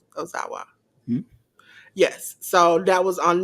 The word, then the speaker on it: Ozawa: Daga and uh Ozawa is that how you pronounce it o Ozawa yes so that was on that show then